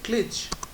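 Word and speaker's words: cliché: When I write cliche, C-L C-L-I-C-H-E, look how the autocorrect corrects it to a small sickle on the E.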